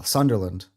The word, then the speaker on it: Sunderland: Oh, Sunderland. Oh, you say it right. Everybody cuz I say Sunderland like Disneyland, Ireland.